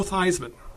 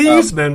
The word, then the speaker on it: Theismann: Or Theismann before he changed the pronunciation of his name. Right. Yeah. To rhyme with Heisman Trophy.